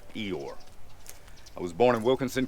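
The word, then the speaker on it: Ioor: It's Eeyore. I bet you're wondering how to pronounce my last name. I-O-O-R is pronounced Eeyore.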